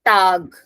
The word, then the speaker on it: Tag: then we have guten tag so a is pronounced as a so if I talk about English we would have said this as tag but in German It Is Tag a so guten tag